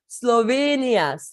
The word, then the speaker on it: Slovenia: do you say that Slovenia Slovenia Slovenia yes so it's as like Sarah that itself okay and then it's inia okay so almost like Kenya but not with the